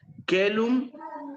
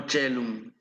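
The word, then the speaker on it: caelum: Ok, pero cuando la A y la E están juntas, van a sonar como E. Entonces, ¿qué dice ahí? Celum. No. Ok, recuerden, se puede escribir como cualquiera de estas pronunciaciones es correcta. Kelum o chelum.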